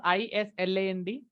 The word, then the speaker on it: island: I And what will you pronounce ISLAND? island. Pardon, pardon. Island. Okay, so S is silent there.